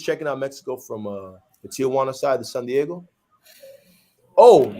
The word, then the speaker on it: Tijuana: I usually was checking out Mexico from the Tijuana side, the San Diego.